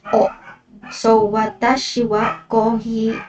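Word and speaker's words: を: Plus, this is, if the wo is used as particle, it is pronounced as o.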